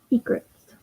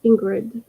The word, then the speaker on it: egrets: Egrets. Thank you, Pam. That's how you say it. Egrets. I keep wanting to say Ingrids.